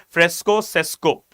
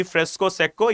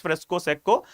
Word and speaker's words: fresco secco: Okay, also pronounced as fresco sesco. Right, though it is double CO, it should be fresco secco. Yes, it is pronounced as fresco secco, but majority of the people, they also pronounce this as fresco sesco.